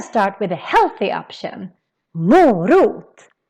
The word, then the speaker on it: morot: And in this video, we're gonna learn how to pronounce all of them. We're gonna start with a healthy option. Morot. Morot.